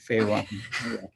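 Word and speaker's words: FAE1: fey1 or f-a-e ah you said it right pha one yeah it's a it's called uh it's a fatty acid um elongation yeah one it's a gene that was identified in arabidopsis and they call it pha one you know i could respond to one of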